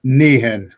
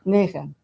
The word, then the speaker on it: Nehen: No, your last name, pronounce it, please. Nehen. Nehen.